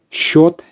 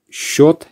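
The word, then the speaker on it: счёт: this before a meal short short is a bill just pay attention to the pronunciation it's different to the spelling and then in relation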